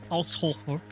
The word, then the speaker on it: Haushofer: Pronunciation. In German, please. Ausrufe. What? Ausrufe. Haushofer.